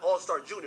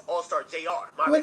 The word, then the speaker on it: Allstar JR: saying his name wrong it's not Allstar Junior it's Allstar Jr. Jr.